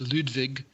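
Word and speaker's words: Ludwig: there's a streamer I I have to assume it's pronounced ludvig um that his Jam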